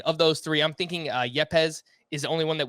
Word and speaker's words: Yepez: Yeah, Yepez. They were both named co-hitters of the Arizona Fall League, and Rangers pitching prospect Owen White named the pitcher of the AFL. And of those three, I'm thinking Yepez is the only one that we see in